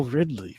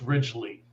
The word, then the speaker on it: Ridgely: We have Ridley, which... Did I say your last name right? No. Okay, how do you say it? I mess names up all the time. So do I. It's Ridgely.